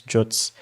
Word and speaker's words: JWT: known as JWTs, or some people pronounce them as Jots.